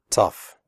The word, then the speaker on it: tough: pronounce the word correctly the oh ugh in tough is pronounced off like in stuff tough recipe if you have